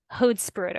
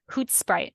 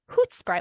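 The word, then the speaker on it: Hoedspruit: so it's actually pronounced hoot Sprite like they she told us to go hoot Sprite like like hoot in the beginning almost okay but I feel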